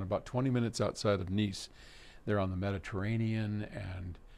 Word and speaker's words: Nice: Oto in nce France which is very close to my oldest son law's house in mujan which is a lovely town about 20 minutes outside of nce they're on the Mediterranean and you know if